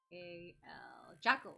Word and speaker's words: Jacal: His name is Jacal. Jackal, like the wild dog.